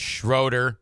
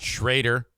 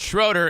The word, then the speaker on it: Schroeder: I double-check, make sure her name is pronounced Schroeder, not Schrader. She says, "It's Schroeder, and thank you for asking."